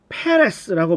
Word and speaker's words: 페레스: 베레스라는 말을 영어로 보시면 앞 글자가 P로 되어서 페레스라고 발음이 되는데 이것은 발음상 이중적인 의미로 페르시아를 가리키는 것이 되기도 합니다.